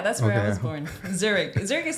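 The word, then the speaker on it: Zürich: the best universities did I say it right Zurich yeah that's where I was born Zurich Zurich is not the capital it's burn but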